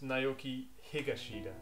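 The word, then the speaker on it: Naoki Higashida: okay can I just say something briefly it's Nai higashida all right okay I got his name wrong no problem that's fine on that apology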